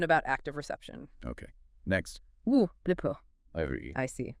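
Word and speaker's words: βλέπω: Blipo. I see. Pronounce the B-L-E-H poke. Stress on the first syllable there.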